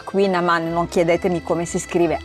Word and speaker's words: kouign-amann: Avevamo preso un dolce tipico qua di San Malo che si pronuncia Queen Amman, non chiedetemi come si scrive.